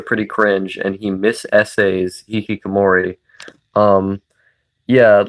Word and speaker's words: hikikomori: He literally said hikikomori. Yeah, no, I know. It's a he doesn't pronounce it correctly.